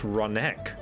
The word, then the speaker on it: Ronique: Turns out Ronique is pronounced Ronek.